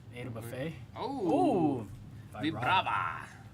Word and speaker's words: Vibrava: Vibrava. I just always say Vibrava because Okay, like vibration. Vibrate.